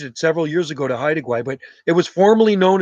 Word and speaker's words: Haida Gwaii: How do you spell that island? Haida Gwaii? Haida. Haida. Haida. Haida. Is that right? Haida? Yeah, Haida. Haida Gwaii.